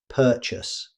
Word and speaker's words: purchase: Although it's spelled with an A, most native speakers reduce that vowel sound. Instead of saying every syllable clearly, you'll usually hear purchase. Listen again. Purchase.